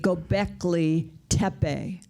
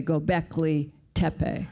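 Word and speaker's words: Göbekli Tepe: like you that's incredible the Turks say gobekli tepe when you're there the Turks say gobekli tepe they need to listen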